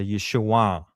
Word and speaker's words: Yeshua: But the proper way to say it at that time is a nasal back sound, and it's a downward. So Yeshua. It goes through your nose and down. Yeshua.